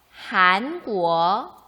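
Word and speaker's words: 韩国: 수 있게 됩니다 먼저 우리나라 뭐라고 하냐면 한국의 발음과 상당히 비슷하죠 해볼까요 1 부어 한번 더 하앙 꾸어 때 고유명사 l 표기할 때는 경험에 첫글자를 h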